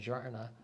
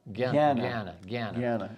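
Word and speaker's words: jñāna: The resulting the resultant actions of karma and jarna that's not pronounced jarn but it's ga gana gana are so insignificant to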